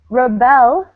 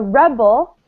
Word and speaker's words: rebel: very clear for you rebel stress on the second syllable is a verb a rebel stressed on the first syllable is a noun so here let me